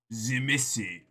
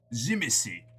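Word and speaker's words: Tzimisce: Zimissi. Zimissi. The wiki says it rhymes with the meat sea which has all sorts of poetic hilarity I will not expound.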